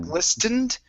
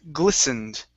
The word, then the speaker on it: glistened: the word glistened now here this t is silent instead of glistened it's glistened glistened so this would be